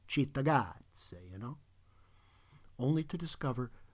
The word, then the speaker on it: Cittàgazze: (You go to give it the Italian pronunciation, *Cittàgazze*, you know?)